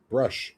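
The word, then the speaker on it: Brusch: No, it's B-R-U-S-C-H. Oh, Brush. Okay.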